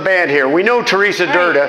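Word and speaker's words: Drda: We know Teresa Durda. Right. Teresa Durda on the drums, always. My longest running bandmate. A woman whose last name is perilously short of vowels. Yes. That's right. It's spelled D-R-D-A.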